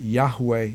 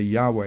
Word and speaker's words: Yahweh: about the correct pronunciation I believe that Yahweh is correct I say Yahweh in the United States